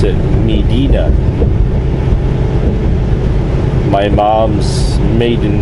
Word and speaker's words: Medina: many of you Americans like to call it midina back home they pronounce it Medina my mom's maiden name was uh t t